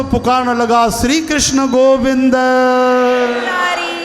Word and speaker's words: मुरारे: चओ श्री कृष्ण गोविंद हरे मुरारे। हाँ, मुरारी भी भगवान जो नालो तो, पर हिते मुरारे लिखियल अथव, मुरारे।